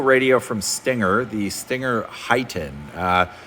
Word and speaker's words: HEIGH10: from Stinger, the Stinger HEIGHten. Some people call it the HEIGH10. I believe it's pronounced the Heighten radio, which is their floating